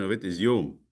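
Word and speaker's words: יום: It's the Hebrew word pronunciation of it is yum like the Arabic.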